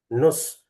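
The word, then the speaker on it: نصف: Nus. Nisfu. Nisfu. Eh, dibaca aslinya nisfu, tapi kalau secara amiyah bacanya nus.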